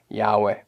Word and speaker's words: Yahweh: is intentionally replaced in the tetragrammaton yode vave or as we often pronounce it yahweh anyone can look into